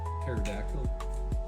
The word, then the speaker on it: pterodactyl: Pterodactyl pee in the woods? Why? Why can't you, UB? Tell us all. Because the P is silent.